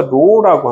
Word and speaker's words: rho: 재질은 재질을 결정하는 값은 비정이라고 해서 로라고 합니다. 다시 그리스 로마 문자야. 알파도 그리스 로마 문자 베타 감마도 다 그리스 로마 문자이듯이 얘를 뭐라고 써요? RHO라고 해서 뭐라고 읽어요? 로라고 합니다.